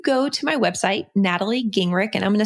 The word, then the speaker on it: Gingrich: Natalie if you go to my website natalie ging rick and i'm gonna spell that for you because it's special in a tae li e and my last name is GI ng RI CH so it's natalie gingrich comm and I am